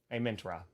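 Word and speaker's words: Amon-Ra: just false am Min am Min raw a mint a mint a mint raw yes that's that's the correct the correct one yeah you know what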